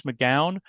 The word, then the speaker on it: McGowan: And with me today is Chris McGowan from Peak 9860.